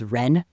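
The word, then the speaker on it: 仁: lie l i and I cannot pronounce this word properly in ancient Chinese but it's ren or jen is how it's sometimes anglicized or ren I think is how the modern scholars anglicize it. It's like a hard r it's hard to pronounce anyway.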